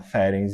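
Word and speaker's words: Ferenczi: que foi é feren que chama feren é feren é as pessoas falam feren né Tem um professor da USP ele fala ferens e eu acho que é o é o é o a pronúncia mais correta então o ferens ele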